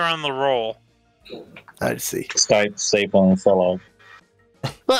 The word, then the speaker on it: Stipe: It's not snipe, like S-N-I-P-E. It's Stipe. Hey, I got it. It is Stipe.